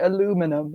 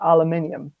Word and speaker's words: aluminium: the zone that's you know how the Americans pronounce it aluminum and we pronounce it aluminium it's not just the pronunciation like there is